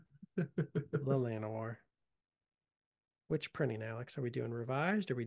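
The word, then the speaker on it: Llanowar: basics because these are actually this is actually pronounced lanoir lanoir which printing Alex are we doing revised are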